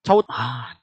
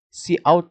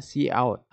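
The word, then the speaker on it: cout: Di line berikutnya ada chout. Chout gitu-gitu cara bacanya. Enggak, see out ya. Kita bacanya see out.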